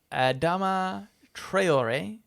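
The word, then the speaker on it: Adama Traoré: today i learned the reason premier league footballer adama treyori i've pronounced that correctly don't you worry uh slaps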